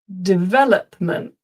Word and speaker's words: development: Development development. I'll just put the the transcription. So, the emphasis is on the second syllable.